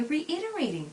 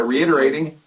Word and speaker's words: reiterating: 하지만 여기서 우리가 flip 사운드가 나면서 발음할 때는 reiterate by reiterating. 다시 한번 들어볼까요? By reiterating.